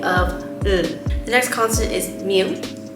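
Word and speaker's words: 미음: the next consonant is mu this is pronounced m and it sounds like the letter m the way you can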